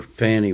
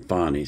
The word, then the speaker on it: Fani: this story before and I've called her Fanny Willis but in these uh videos that you're going to be watching here they pronounce her name fonnie so that's how I'm going to pronounce it from now on breaking news at this